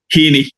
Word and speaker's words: Heaney: Is it pronounced Heaney or Heaney? Heaney, yeah, Heaney, Heaney.